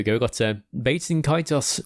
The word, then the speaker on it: Kaitos: We've got Bates and Kaitos 1 and 2 HD remaster, which were a couple of GameCube JRPGs from back in the day. What are they called? Bates and Kaitos, I think it is. Kaitos.